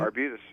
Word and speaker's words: Arbutus: Arbutus.